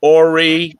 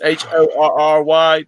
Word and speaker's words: Horry: And my uncle, who knew everybody down in Horry County, and it's pronounced Horry. The H is not pronounced otherwise. It would be Horry County. It's Horry.